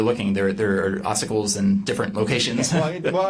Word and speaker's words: ossicles: The um and I'm I guarantee I'm going to pronounce some medical words wrong, but ossicles ossicles, is that a word?